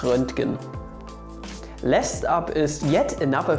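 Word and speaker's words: Röntgen: the german language so his name is renting last up is yet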